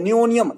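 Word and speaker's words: Nihonium: नियनियम क्या कहते हैं नियनियम हा साइलेंट है नियनियम क्या कहते हैं नियनियम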